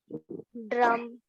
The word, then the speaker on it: drum: Curve your tongue on the mouth, not drum. Right. Say it again. Drum. No, I can still hear the R vibration. The R drum. Vibration should not come. It should be drum.